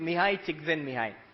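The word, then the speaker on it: Mihaly Csikszentmihalyi: You pronounce it Mihai Csikszentmihalyi.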